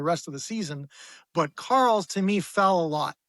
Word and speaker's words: Carels: Am I pronouncing it right? Carels. Yeah, it's Carels.